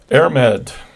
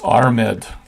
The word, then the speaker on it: Airmed: Airmed. I'm sure that is not pronounced correctly. Sounds like a bed and breakfast, doesn't it? It's Armed. Irish mythology. You roll the R a little bit.